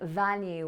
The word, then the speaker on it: value: Number 1, value, with a v, my teeth touching my bottom lip.